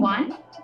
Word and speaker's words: won: ONE one. Same pronunciation for WON. It is one.